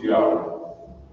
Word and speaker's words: Yahweh: In order to make the Tetragrammaton pronounced the Yahweh in English, as it is pronounced Yahweh by the Hebrew speaking people, we as English speaking people, we need the aid of our vowels to make our words pronounceable.